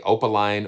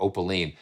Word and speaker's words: Opaline: orchestral tools says that you can pronounce it either way opaline or opaline i like opaline it